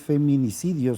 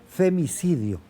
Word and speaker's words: femicidio: Por cierto, lo pronuncié mal, no es feminicidio, sino es femicidio.